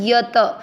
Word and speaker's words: यतः: सहित समझेंगे पहला चरण यत दोनों अक्षर पूरे दोनों में अ मिक्स होगा यत त में अ की मात्रा तो विसर्ग को पढ़ेंगे ह यतः प्र का मतलब हुआ